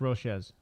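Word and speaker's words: Nunez-Roches: It's Roches. You don't cho it.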